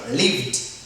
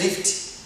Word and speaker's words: lived: Yeah, you are allowed to pronounce this word, lived. Let's say lift, as you have seen the previous verbs, okay?